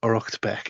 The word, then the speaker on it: Uraicecht Becc: um the good reference there is known as orbeck and that's u or a i c e c ht and then beck b e ccc.